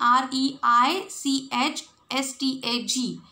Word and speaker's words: Reichstag: See the spelling, R-E-I-C-H-S-T-A-G. It is a German word. So many German words are there in this lesson, so we have to pronounce according to them. So it is Reichstag.